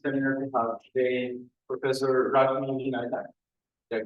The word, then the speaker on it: Rashmi Vinayak: It's a pleasure for us to, in the IMC seminar, to have today Professor Rashmi Vinayak. Did I pronounce it correctly?